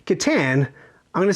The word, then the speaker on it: Catan: So we had no idea it was called Catan. So, you know, we called it Catan with, I think, what linguists call the obnoxious A, which you'll also find in Nacho and Chimichanga.